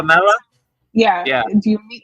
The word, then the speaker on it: Kumbh Mela: The Oh, Kambala. Kumbh Mela.